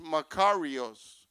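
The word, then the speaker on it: μακάριος: the word breath bless in the Greek is pronounced macaros which means to receive God's Provisions it means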